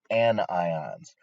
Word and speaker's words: anion: are called cat ions negative ions are called anions try not to mispronounce those that make us all look bad